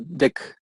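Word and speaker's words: deque: Una de las cosas que menciona acá que tiene son arreglos, vectores, listas y otra estructura que se llama DEC. Así se pronuncia ese último que está ahí.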